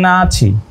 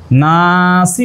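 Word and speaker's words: النَّاسِ: উচ্চারণ কি দেওয়া রয়েছে ওয়ামিনান নাচি না তো আসলে নাসি আর নাচি কত বড় ভুল প্রক্ষান্তরে আমাদের আদায়া পাবলিকেশনের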